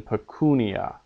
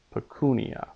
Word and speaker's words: pecunia: long vowel or a diphthong is long by Nature as in pecunia pecunia that ooh in pecunia is long just because it's long pecunia has to be learned when you learn the word a syllable containing a